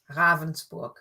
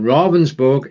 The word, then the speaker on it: Ravensburg: to say ravensberg but it's not is it ravensburg right so let's get it correct from the beginning robinsburg is the christ at this lung crisis robensburg yeah that was a little bit of english